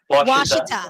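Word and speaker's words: Ouachita: Because you guys are It's Washita.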